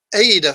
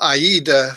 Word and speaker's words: AIDA: It's the first part of the AIDA formula, or AIDA formula, some people pronounce it.